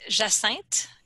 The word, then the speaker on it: Jacinthe: Actually, you do pronounce it Jacinthe, and that's the French word for hyacinth, the flower.